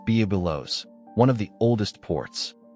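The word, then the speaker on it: Byblos: On Lebanon's coast, where waves meet old stone, stands Biblos, pronounced Bubilos, one of the oldest ports.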